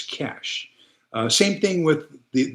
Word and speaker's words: cachet: a French word and it would be c a c h e t. There is no t. So, since there is no t, it's not cachet, it's cash.